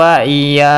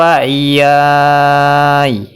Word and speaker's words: wa iyaya: Ketika diwakafkan, cara bacanya seperti ini. Min qablu wa iyai. Min qablu wa iyai. Jadi ya-nya dipanjangkan 2 harokat atau 4 harokat atau 6 harokat. Kemudian ya-nya disukunkan.